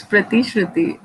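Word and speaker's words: प्रतिश्रुति: यस श्रुति, नाउ लेट me pronounce your name, प्रति श्रुति। नो सही ना? नो सर, इट्स प्रति श्रुति।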